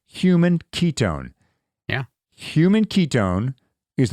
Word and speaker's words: HVMN: Coline well enter hvmn it's actually pronounced human Ketone yeah human Ketone